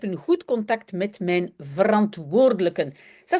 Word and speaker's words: verantwoordelijken: Tous les collègues, alle collega's zijn heel leuk en ik heb een goed contact met mijn verantwoordelijken. Ça, c'est aussi un mot qu'il faut vraiment bien prononcer. Verantwoordelijken.